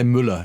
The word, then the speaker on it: Müller: In German, you would say Müller. Is he German? I thought he was an American with a German name, but that's Müller.